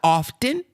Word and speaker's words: often: English teacher diction pronunciation she says it's not often it's often see I ain't never heard that ain't nobody never told me that it's not often now I still don't believe it though as long as as long as I done been alive I know it's often but she tells me it's often the tea is silent see so certain so